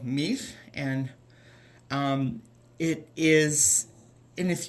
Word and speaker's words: mił: if you heard me, the end of that is that unvoiced kind of breathy L sound that we made with the letter hi at the last time. And the word mir is the first syllable